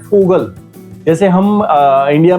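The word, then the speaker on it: Vogel: लेकिन हकीकत में बोल हम क्या रहे हैं? फोगल।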